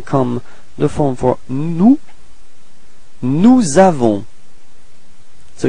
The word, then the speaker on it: nous avons: So you can notice that there is a small link between this S and A. That's what we call la liaison. So you get to put this small link. So it's like Z. Nous avons.